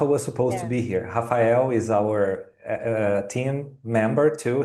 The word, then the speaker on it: Rafael: is how do you say his name Rafael yes or half if you prefer Hafa Hafa.